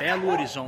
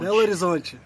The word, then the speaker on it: Belo Horizonte: Belo Horizonte. Belo Horizonte.